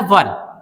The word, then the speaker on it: were: अब इसको 90% जो लोग हैं वो क्या पढ़ते हैं? वियर पढ़ते हैं, बट इसकी जो राइट प्रोनाउंसिएशन क्या है? वो है वर। क्या है? वर है।